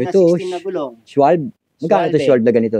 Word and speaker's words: Schwalbe: Schwalbe.